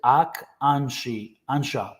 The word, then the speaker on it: Akansha: And then Ashkanshka says they pronounce it Akansha. Okay, Akansha. So the S must be silent then.